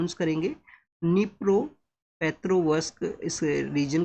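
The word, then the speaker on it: Dnipro: तो यहां पे यूक्रेन के ईस्टर्न पार्ट के अंदर में इस रीजन को है जहां पे निप्रो नाम का जो नदी है डी यहां पे साइलेंट है स्टूडेंट्स।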